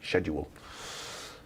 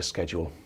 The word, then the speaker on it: schedule: I need to get a schedule out, but that just reminds me, schedule. I know you Americans say schedule, but it's schedule, isn't it?